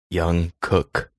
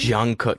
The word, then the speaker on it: Jungkook: try to say it it's young young cook young do you know what i'm talking about maybe jungkook yes not young i don't know why